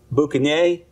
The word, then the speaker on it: boucanier: It comes from the French word pronounced boucanier. If I've got that right, I don't speak French.